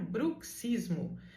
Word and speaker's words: bruxismo: Especialmente nessa palavra vem ali um CS, que quer dizer que você deve pronunciar bruxismo.